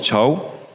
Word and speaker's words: chav: Chav, we pronounce it chow.